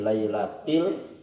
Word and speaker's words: lailatil: Karena pertama inna anzalnahu fi lailatil qadar, si imamnya membacanya lailatul. Jadi dikasih ingat sama imam, sama makmum, lailatil.